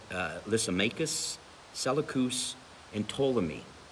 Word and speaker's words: Ptolemy: lisa makus selakus and ptolemy the p is silent in that name okay it's tolemy is how it was